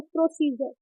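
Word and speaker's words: procedure: है नीय शोभा तो किसी भी वर्ड में डी के बाद आ रहा है डी के बाद आरहा है जैसे कि इसमें प्रोसीजर तो डी आ रहा है सबसे पहले उसके बाद क्या आ रहा है यू आरई कौन सा वर्ड आ रहा है हमारा यू आरई तो क्या पनास कर रहे हैं ज के रूप में प्रोसीजर जैसे कि पजर तो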